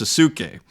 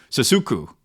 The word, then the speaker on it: Sasuku: Most people don't know how to pronounce my name, but to help you out, it's like Sasuke from Naruto the anime, but instead of K at the end, it's Ku. Sasuku.